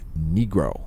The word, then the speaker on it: Nigro: Italian last name's Nigro it is an Italian name pronounced negro if you are in the country of Italy most Americans use the English style long eye sound 10.7 CM radio flux